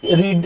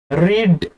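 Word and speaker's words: read: তো আমরা বলি সচরাচরে রিড রিড রিড, কিন্তু এটা সঠিক উচ্চারণ নয়। সঠিক উচ্চারণ হবে রিড, অর্থাৎ এটা ভি1। রেড, রেড, প্রথমে আয়ের হস্যির উচ্চারণ, রয়ের সঙ্গে হস্যির উচ্চারণ, এবং ভি2 তে রয়ের সঙ্গে একারের উচ্চারণ, ভি3 তে রয়ের সঙ্গে একারের উচ্চারণ।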